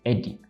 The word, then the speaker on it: Edney: what structure eddie eddie for you guys that don't know my name i think it will be more easy to pronounce in this way eddie a clear break of